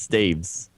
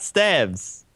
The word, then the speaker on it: Staves: It's staves. Dave's? Staves, not stabs. No one says stabs.